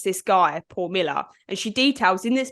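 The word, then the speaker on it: Mueller: by the name Paul Miller and it's spelled m-u-e-l-l-e-r so it's not spelled Miller but it was pronounced Miller um and there's actually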